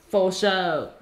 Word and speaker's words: Fo Shou: Fo Shou.